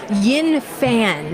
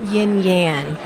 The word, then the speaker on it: Yin Fan: Yin Fan, not Yin Yan.